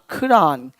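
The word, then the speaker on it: Quran: तो ये हुआ कुरान क्योंकि वहां पे कुरान नहीं होता खरान। खरान। तो क में ख मिला हुआ है।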